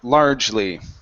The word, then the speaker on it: largely: in this word uh we're not going to pronounce that e okay so we don't want to say large it's only large Le so like it's two vow two um um oh I forgot the word so uh syllables there we go good so two syllables in the word instead of three okay so it's largely